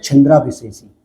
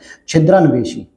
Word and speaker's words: छिद्रान्वेषी: तो दूसरों में जो व्यक्ति कमी बार बार निकालता है उसे हम लोग कहते हैं छिंद्रा विशेषी। छिंद्रा, या मतलब छिद्रा कहेंगे, सॉरी थोड़ा सा प्रोनाउंसिएशन गलत हो गया, छिद्रान्वेषी, ठीक है, ये कहा जाता है उसे।